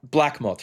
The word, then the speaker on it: BLKMOTH: we have is it is it is uh black moth right that's that's how it's pronounced cool yeah we got